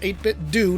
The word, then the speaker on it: 8BitDo: And yes, it's technically pronounced 8BitDo, not dough, if you were wondering.